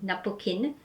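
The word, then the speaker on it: ナプキン: japanese spelling and pronunciation so napkin would be napoken and liner would be raina another label you would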